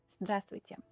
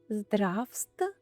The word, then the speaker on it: Здравствуйте: Здравствуйте. Здравствуйте. Здравствуйте. Здравствуйте. Some letters aren't really pronounced at all. For example, this one.